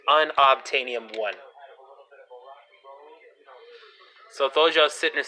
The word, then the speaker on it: Unobtainium: to spell all this but basically it is pronounced unobtainium one so though just sitting to say and una Betania 1 or um betaine IAM know it is unobtainium